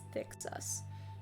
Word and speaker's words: THCSCUS: I just pronounce it as Thicksus.